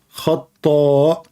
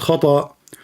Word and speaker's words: خطاء: خطاء, not khata.